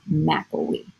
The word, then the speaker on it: McElwee: And then I spelled my last name, sort of breaking it up by syllable, and I've made the Mac super dark with an accent over it so that the diploma reader knows to say my name is McElwee.